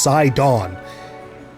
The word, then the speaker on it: Sidon: I still can't believe it's pronounced sidon because it's like a play on Poseidon right like link welcome